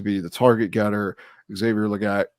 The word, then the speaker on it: Legette: Xavier Legette. I think it's actually pronounced Leggett.